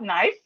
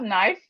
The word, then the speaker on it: knife: So these words we have um silent letters simply mean we see the letters when we write them but we don't pronounce it. Silent letters are words are letters that we can see but we don't pronounce. Silent letters are letters that we can see. You can see them in a word but you don't pronounce them.